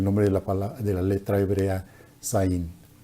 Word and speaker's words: Zayin: de la letra hebrea Zayin. Se pronuncia esa letra hebrea como si fuera una Z española.